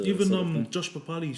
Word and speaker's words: Papali'i: They called him Papali, but they call the Warriors Papali'i. So spelt the same.